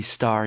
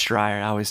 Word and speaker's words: Stryer: Yeah, he would call her Roxy Star, even though it's Stryer.